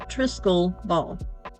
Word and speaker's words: triskele: the trisal ball and that's spelled t r i s k e l e pronounced trisc ball I'm sure there's a